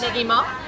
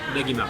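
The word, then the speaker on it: ねぎま: Negima. Negima.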